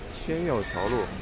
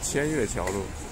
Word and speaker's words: 天钥桥路: 这里是千钥桥路，以前不认识那个字，总念成千月桥路，是钥匙的钥。